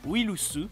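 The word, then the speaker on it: ウイルス: La blague étant que le mot virus se prononce Willusu, qui ressemble au début du nom de Will Smith.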